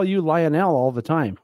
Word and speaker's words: Lionel: of those names that you can either break out the syllables and pronounce them individually or you can just kind of do it with the Sudbury slur and go Lionel it's not the name just drop the O right away just Lionel the Lionel yeah exactly